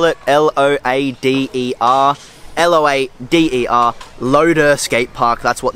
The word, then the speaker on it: Loader: you spell it l-o-a-d-e-r l-o-a-d-e-r loader skate park that's what this gate park is called guys it's not lotto it's loader and there you have it